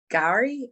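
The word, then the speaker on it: K'gari: it incorrectly, but it's Gari. It's got like a K and then Gari. So I think the K is kind of silent.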